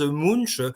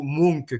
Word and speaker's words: Munch: tout de suite hein je vais prononcer le nom à la française Munch sachant qu'en norvégien c'est plutôt Monk que l'on dit hein mais voilà le